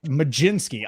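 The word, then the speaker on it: Mlodzinski: Carmen majinski have a there's no G in there no way who told you that baseball reference if you're ever looking for a uh for pronunciation just go to baseball ref majinski I don't know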